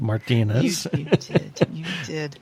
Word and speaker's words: Martinez: and I you notice I use the proper Spanish pronunciation of Martinez how many times you get Martin Martinez Martinez oh my god you know